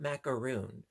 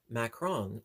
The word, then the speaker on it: macaron: I think that's how you pronounce it, because I know it's not macaroon, because macaroon, those are the coconut and typically coconut and chocolate sort of cookies, but macaron, uh, it's more of